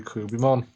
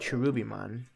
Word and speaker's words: Cherubimon: I mean, well, I pronounced it Cherubimon. Yeah, it's different. Cherubimon's probably better in English, but Kurubimon's how they said it in Japanese. Yeah, because there's a K in Japanese.